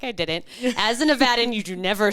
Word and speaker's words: Nevada: How do you say it? Nevada? Nevada. No, Nevada.